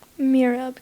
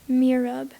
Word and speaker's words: mihrab: Are there any alternate pronunciations? No. Mirab. Can you use it in a sentence, please? A rich mosaic decorates the mihrab of the mosque that Mahmoud attends. Mirab. Mirab. M-I-H-R-A-B. Mirab.